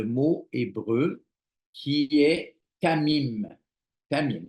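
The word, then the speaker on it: תמים: hébreu qui est kamim Tamim ça s'écrit comme ça se prononce presque t a M i alors qu'est-ce que ça veut dire Tamim Tamim soyez parfait en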